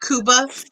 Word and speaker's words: Cuba: Harvey I love the name Harvey it was it was kuba I love that it's pronounced kuba and its Cuba it's spelled Cuba it scuba